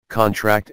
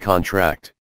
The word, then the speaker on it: contract: Stress on the last syllable is a verb. Examples, contract and contract. The former is a noun, sign this contract, whereas the latter is a verb, the muscles contract.